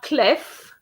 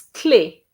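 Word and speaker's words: clé: word for key there's two spellings for key in in french you have this one but you also have the cl e with an accent an acute accent and that means key okay actually do you have the key to the workshop okay so that's that's what it is so it's not clef but it's clay actually so lovely try that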